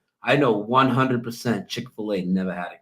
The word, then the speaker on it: Chick-fil-A: Chic I'm at chicfila Chick-fil-A that's what it was some people pronounce it Chic because that's because the way it was spelled it's never been that now in this reality so